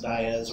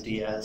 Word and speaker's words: Diaz: It's actually pronounced Diaz where I live, but everywhere else is Diaz, so whatever you want to call me, that's fine.